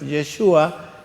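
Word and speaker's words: ישוע: Jesús, su nombre hebreo es Yeshua, y no se utiliza J, es una transliteración, la J, del hebreo al español.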